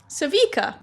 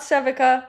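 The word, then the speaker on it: Sevika: Savika. That's how you pronounce it. Not Sevica.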